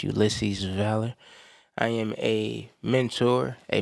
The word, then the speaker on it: Ulysses Valor: That's pronounced Ulisses Valor.